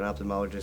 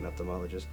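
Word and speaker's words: ophthalmologist: has been to an opthamologist several times my daughter is about to go to an opthalmologist um sorry Opthalmology sorry I was corrected on the pronunciation the other day um but so far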